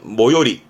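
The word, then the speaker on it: 最寄り: 그래서 모토모의 모로 가지고 발음은 모요리.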